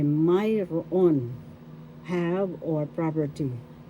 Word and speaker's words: mayroon: Or you could say mayroon, have or property. First syllable may, second syllable ro, third syllable on. The first accent is in the first syllable.